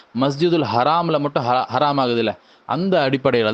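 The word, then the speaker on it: مسجد الحرام: மக்கள் அதிகமாக மஸ்ஜிதுல் ஹராம் என்று தான் சொல்கிறாங்க. ஆனால் சில சமயம் மருவி மஸ்ஜிதுல் ஹரம் என்று சொல்லக்கூடியதை நம்ம பார்க்குறோம். ஆனால் சரியான உச்சரிப்பு மஸ்ஜித் அப்படின்னு வரும்பொழுது மஸ்ஜிதுல் ஹராம் என்று சொல்வது தான் சரியாக இருக்கிறது. அதே போல் கூடுதலாக என்ன ஹரம் ஷரீஃப்னு சொல்லுவாங்க.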